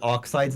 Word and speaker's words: Oxide: And Oxide's name is pronounced Oxid because they like the Spanish translations of games are either pretty decent or pretty bad.